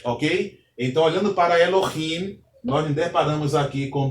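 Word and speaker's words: אֱלֹהִים: Observe que não é Elohim, é Elohim, ok?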